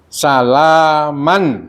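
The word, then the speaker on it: سلاما: Salaman tulisannya ya. Salaman. Nah, itu ada apa? Memnya itu pakai tanwin, apa? Double. Kasih double ya. Dibacanya salama gitu. Salama. Nah, jadi namanya dibaca 2 harokat.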